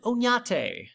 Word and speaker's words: Oñate: and I'm guessing that's missing a squiggly above the N and should actually be pronounced Oñate.